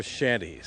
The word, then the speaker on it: shanties: They're shanties, sea shanties, always pronounced with an SH, even though sometimes you see it spelled CH.